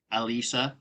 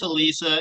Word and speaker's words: Alisa: one more time oh Alisa I know I just want to make sure I know I know it's Alisa and and I don't